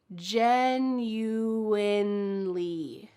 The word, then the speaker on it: genuinely: And then our second word, genuinely. There is an N in the middle of this word. Don't forget it.